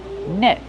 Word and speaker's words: net: Use the short S sound like red and bed. Net. Then use a stop T. You can say net, but normally people say net.